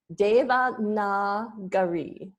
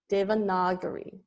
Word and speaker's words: Devanagari: So it's pronounced Devanagari. Devanagari.